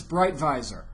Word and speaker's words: Breitweiser: If I did it the German way, if I look at it and really study it, it's Breitweiser. Okay. That would be the German... Honey, there you go. That would be the German pronunciation of the name.